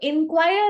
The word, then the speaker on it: inquire: और जो इंक्वायर है जिसमें हम आई लगाते हैं, उसका प्रोनाउंसिएशन इज इन, इंक्वायर। सबसे पहला अंतर तो प्रोनाउंसिएशन का, स्पेलिंग में एक अल्फाबेट का ई और आई का।